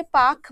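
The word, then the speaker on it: Palk: में लिखा हुआ है पी एल के एग साइलेंट तो इसीलिए उसको वैसे पार्क बोला जाना चाहिए अगर पालिका तो वह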